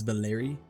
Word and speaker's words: Valeri: That's how you say his name. That's Valeri. It rhymes with fairy.